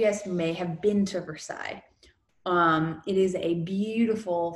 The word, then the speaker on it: Versailles: building of versa so please do not pronounce this verses in French this is Versailles now some of you guys may have been to Versailles um it is a